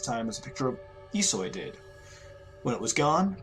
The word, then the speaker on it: Ihsoy: That's Ihsoy pronounced.